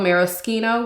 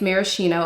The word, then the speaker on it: Maraschino: recently picked up Sospiro Marino, which is the Italian pronunciation, because I know y'all are gonna come for me in the comments. But the American way is maraschino, and I am aware,